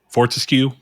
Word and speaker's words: Fortescue: exactly I hear me out uh Sir Daniel fortesk Fortescue remember he pronounced his name from medieval all right Chris